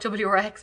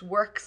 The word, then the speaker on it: WRX: of choice is works we call it wrx but it's meant to be pronounced works we're a bit old